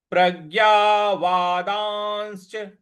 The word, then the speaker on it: प्रज्ञावादांश्च: अगला पद है प्रज्ञावादांश्च, वादांश्च, इस प्रकार से बोलेंगे, वादांश्च। प्रज्ञावादांश्च भाषते, भाषते, भाषसे।